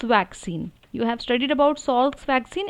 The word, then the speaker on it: Salk: For example, in Salk's vaccine, you have studied about Salk's vaccine, SAL, where L is silent.